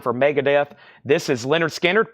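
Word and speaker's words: Lynyrd Skynyrd: sealed $ 36.99 for Mega Death this is Leonard skinnard pronounced Leonard skinnard that's new and sealed $ 36.99 for Leonard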